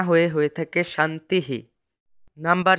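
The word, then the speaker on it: শান্তিঃ: বাক্যের শেষে এই শব্দটি থাকলে তবে তার উচ্চারণ শান্তি না হয়ে থাকে শান্তিহি।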